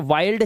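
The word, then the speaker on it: wild: bind इस तरह से आई के बाद एल डी है तो वाइल्ड चाइल्ड ठीक है इसलिए इसकी आवाजें चिल्ड विल्ड नहीं होती है ये ये रूल है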